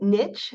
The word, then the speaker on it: NICHE: We pronounce it niche as if there's a T in it because Dr. Terry Fulmer is always in the middle of everything we do. So, um, we call it niche.